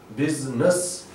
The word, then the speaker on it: business: And business, and this word is business, and here I is silent, and NESS, NESS, when it joins any word, when it joins some word as a suffix, it becomes ness, and it is no more ness, business.